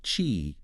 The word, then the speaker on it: Qi: roll their eyes, is chi, right? Spelled Qi, but pronounced chi. Exactly. It rhymes with tree.